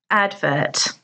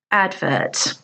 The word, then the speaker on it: advert: word is pronounced advert advert there are two syllables and the stress is on the first syllable advert now if you're using